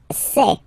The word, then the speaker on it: sais: Je sais. Okay, final S not pronounced, and then you get this A-I-E.